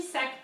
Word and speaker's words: sac: Sac in French is bag. sac. The C is the thing that you pronounce, is the thing that you put the most emphasis on.